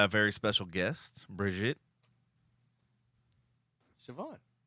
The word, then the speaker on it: Shvonne: with your last name is it Bridget Siobhan chavone Siobhan okay just like it's okay like a